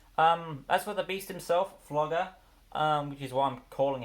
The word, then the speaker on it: Fluger: I'm calling him Flugger, because otherwise I have to pronounce it as Fluger, and I don't want to pronounce it like that, because it just sounds like some sort of snot word.